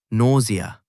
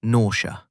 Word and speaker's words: nausea: Pronunciation, nausea. 3 syllables, not nausea.